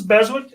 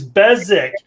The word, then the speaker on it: Beswick: right so next week james beswick uh besik dad damn it i say his name wrong see you think i'm better than your name it's bezik i have said i